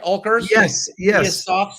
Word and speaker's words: Oelkers: Do I pronounce it right? Oelkers?